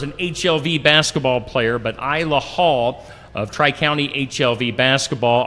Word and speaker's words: Isla: Is it Ayla Hall from Tri-County? I believe it's Isla Hall. Isla, okay.